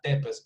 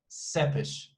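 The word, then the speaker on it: Țepeș: name not vlad tepes some people say vlad tempest but no it's that seppish which is which is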